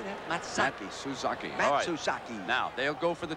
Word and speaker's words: Matsuzaki: matak how do you say that mataki suzaki matsuzaki now they'll go for the two-point on this